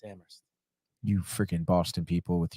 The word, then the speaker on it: Amherst: UMass Amherst that's Amherst Amer it's it's not Amhurst it's amst you freaking Boston people with your [ __